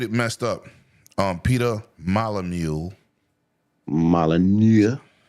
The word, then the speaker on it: Molyneux: Peter Molyneux, Molyneux. the N is silent.